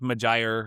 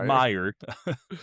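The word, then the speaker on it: Meijer: Pronounced Majire or something like that or No, it's pronounced Meyer.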